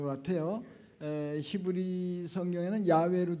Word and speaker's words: 야훼: 거 같아요 히브리 성경에는 야외로 돼 있는데 옛날 발음이 여호와보던 야외가 더 정확하다고 그러니까 그건 세계적으로 통영이 되는데